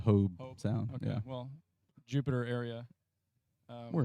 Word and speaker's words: Hobe Sound: grounds here down in is it hobie sound is that how you say it uh i've been calling it hobe sound yeah well jupiter area